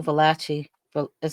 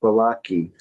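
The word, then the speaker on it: Valachi: I talked about Joe Velace. Is that how you say his name? Velace Papers. Velacei. Actually in Italian it's pronounced Valaki.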